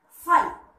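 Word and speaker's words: फल: So it is pronounced by ill. So fa plus la equal to fal.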